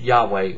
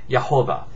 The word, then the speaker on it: Yahweh: Bible is Lord God yhwh is typically pronounced Yahweh or yahovah anyway in verse number